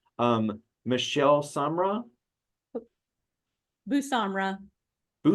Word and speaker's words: Samra: see and also please help me with name pronunciations um Michelle Samra bu Samra bu Samra okay yep yeah and you can call me